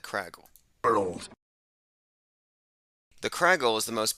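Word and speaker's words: Kragle: It says Kragile here, but he's pronounced it like Craggle.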